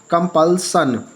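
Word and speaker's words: compulsion: कम कंपल्सन। ठीक है, कंपल्सन पढ़ा। यहाँ पर SION आया।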